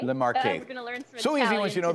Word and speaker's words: Le Marche: actually never uh heard about this recent region la marsh is it pronounced yeah le marche the marquee so easy once you know the language i'm